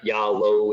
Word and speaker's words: Yalo: were wondering and uh phonetically uh yeah low is how we say it but uh our role